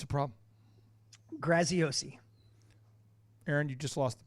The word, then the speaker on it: Graziosi: because you know if people are out there mispronouncing your name that's a problem it's a problem graziosi Erin you just lost the bet yeah I